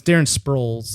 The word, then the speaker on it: Darren Sproles: But it's Darren Sproles is how you actually pronounce this guy's name.